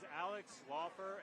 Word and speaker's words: Alex Laufer: My name is Alex Laufer, A-L-E-X, L-A-U-F-E-R.